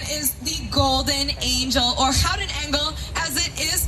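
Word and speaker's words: Gouden Engel: Now, the name of our organ is the Golden Angel, or Houten Engel, as it is pronounced in Dutch.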